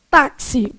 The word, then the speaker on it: táxi: Táxi, quantas letras e quantos fonemas? Bom, você tem o TA, tá. Esse X aqui tem som de o quê? KS, táxi, não é isso?